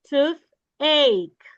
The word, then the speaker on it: toothache: Okay, toothache. Toothache. Ache. Ache. I want to hear the sound of letter K, all right? Letter K sound All right?